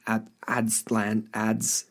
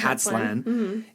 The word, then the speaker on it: Aztlan: The other thing I wanted to just touch on again, because I mentioned it close to the top with Aztlan, I keep mispronouncing it, Aztlan, is this kind of adjacent association or naming, if you will, with Atlantis.